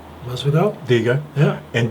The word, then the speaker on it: Masvidal: Masvidal?